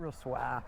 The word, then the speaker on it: Ruswarp: Ruswarp. It's spelt Ruswarp. But if you come from round here, then it's Ruswarp.